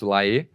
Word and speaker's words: Laet: Um monte de gente fala que é Carlos La, mas eu conversei com o padre lá do Rio de Janeiro que que gosta bastante e tem um artigo de jornal que o próprio Laet fala que a pronúncia dele é assim.